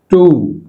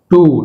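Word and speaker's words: two: టూ, టూ W silent.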